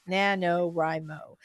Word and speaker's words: NaNoWriMo: So Short this for National Novel Writing, writing and I've heard month, people pronounce it NaNoWriMo, right? but we don't read, we write.